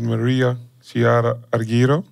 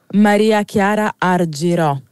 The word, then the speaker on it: Maria Chiara Argirò: and electronic Fusion we got the incredibly talented Maria Shara ariro did I pronounce it properly uh not quite but I'm